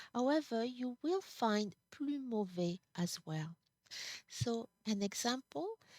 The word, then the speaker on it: mauvais: It's only mauvaise. Mauvaise, mauvais. Do not pronounce here that S. If you pronounce it, we're going to understand that it's feminine.